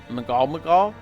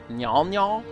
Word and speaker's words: Mnggal-Mnggal: I had a bit of a struggle trying to figure out how to pronounce it. Mnggal-Mnggal? Mnggal-Mnggal? The prevailing pronunciation seems to be Mnggal-Mnggal though, so I'll stick with that.